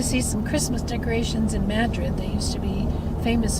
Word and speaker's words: Madrid: the Spanish to Madrid they pronounce it with emphasis on the first syllable so it comes out Madrid and if you say Madrid when you're in Madrid